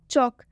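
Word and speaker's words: chalk: चौक, चौक में भी के से पहले एल आया है, इसलिए जो एल है ये साइलेंट हो गया।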